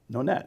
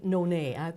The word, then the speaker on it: Nonet: How come I want to say Nonet? Because people think it's French thing. Yeah. Okay. But it's like solo, duo, quartet, quintet, sextet, octet. Nonet.